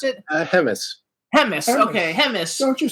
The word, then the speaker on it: Hemmes: Is that how we pronounce it? Hemis.